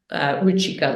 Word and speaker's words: Ruchika: Thank you for pronouncing it. Thanks for the feedback. Ruchika, let's move forward.